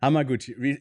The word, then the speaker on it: Hamaguchi: did I say I think I said his name wrong what's his name yeah no it's hamaguchi hamaguchi uh Ruki sorry uh hamaguchi evil does not